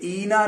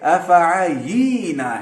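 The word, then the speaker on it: أفعيينا: تو استاذ تلفظ صحیح کرتے ہوئے کہتے ہیں یہ اینا نہیں ہے، یہ افعینا ہے.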